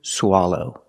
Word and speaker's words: swallow: that is to swallow pronunciation use a short a sound like stop and hot SWA for the first syllable SWA low the second syllable is the long o like no and go o together swallow swallow example he's